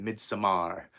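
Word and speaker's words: Midsommar: aster's second movie uh mid samar and you gotta say it like that mid samar i remember seeing like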